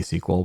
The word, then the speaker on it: Sequel: that app uh SQL spelled like a a movie squel which is a ruby